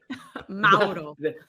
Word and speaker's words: Mauro: First off, no one pronounces his name Mauro Biello quite like you, Andy Petrillo. The right way? Mauro.